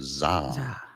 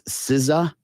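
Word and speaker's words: SZA: the letters are s Za s Za yeah zah uh that apparently is not correct it's siza oh okay yeah he's a singer songwriter he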